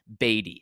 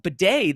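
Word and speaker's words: Badie: video last year saying his last name is pronounced batty it's it's uh b a d i e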